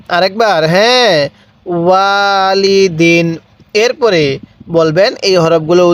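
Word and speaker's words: وَالِدٍ: কিভাবে শিখবো ওয়ালিদিন হ্যাঁ আমার সাথে আরেকবার পড়বেন ওয়ালিদিন আরেকবার হ্যাঁ ওয়ালিদিন এরপরে বলবেন এই হরফ গুলোর উচ্চারণ কিভাবে পড়তে হবে অবশ্যই আপনি আমার সাথে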